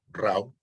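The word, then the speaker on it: Rau: era de origen alemán era francés pero era de origen alemán por eso se pronuncia así raw y ellos decían que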